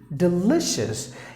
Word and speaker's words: delicious: Delicious. You have to stress li.